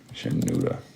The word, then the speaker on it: Shinuda: Shinuda. Yep. Sounds like a kind of cheese. Gouda cheese.